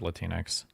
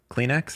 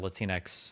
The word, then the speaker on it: Latinx: never use the word latinx never latinx latinx yeah like Kleenex something it's cringe do you think it's pronounced like Kleenex or or Latin X I think it's Latin X Kleenex latinx okay yeah